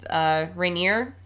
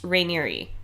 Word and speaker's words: Rainieri: And in the previous episodes, we had said that Keith's last name was Keith Rainier. And really, it's supposed to be pronounced Rainieri.